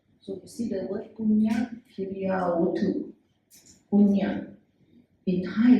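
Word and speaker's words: puñña: They actually used the Pali version, punya, P-U-N-Y-A, pronounced as P-U-N-Y-A, punya, but spelled as P-U-N-N-A, and with a wavy line on top.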